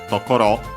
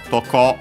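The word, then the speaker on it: とこ: actually an abbreviation of tokoro an accent toko toco accent on the last syllable.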